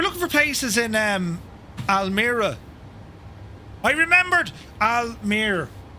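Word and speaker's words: Almere: We were looking for places in um Almir. I remembered Almir, right? Uh, go into maps. We need to find places to visit Almir. Seemingly, it's pronounced Almir, you see.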